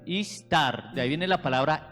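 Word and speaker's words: Ishtar: ejemplo de la diosa istar istar eh No es inglés es así se pronuncia así istar de ahí viene la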